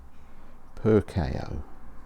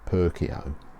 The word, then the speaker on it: Perkeo: Kaweco Perkeo, or Perkeo, however you want to pronounce it.